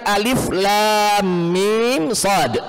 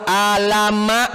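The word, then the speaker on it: المص: Lam Mim disebut mim tidak boleh diharakati Fath ro Dom k misalnya kita fathahkan semua Alama misalnya gak jadi ya kalau di sini Alama Shad Gak jadi kenapa karena cara membacanya huruf muqatah tersebut memang setiap huruf kita Sebutkan huruf itu dengan sempurna kalau Alif ya bilang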